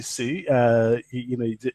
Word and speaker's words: Sioux: No, it's just Sue, like S-U-E. Oh, it's just spelled funky. Okay. Yeah, it sounds like Sue, S-U-E. It's spelled funky. French. Awesome. It's spelled French.